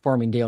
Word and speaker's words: Farmingdale: And that is Farmingdale. Is that how you say it? Yeah, Farmingdale, New Jersey.